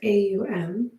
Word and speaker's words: om: we'll take three ohms spelled om pronounced aum and as you breathe